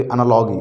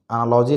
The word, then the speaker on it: analogy: देखिए इस तरह की क्वेश्चन जो होती है आपको एनालॉजी देखिए, मैंने कभी कभी एनालॉगी बोलता हूँ, एनालॉगी होती नहीं है, एनालॉजी होती है ना। एनालॉजी सही प्रोनाउंसिएशन है।